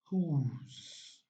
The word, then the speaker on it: whose: is whose don't forget letter w here is silent whose letter w is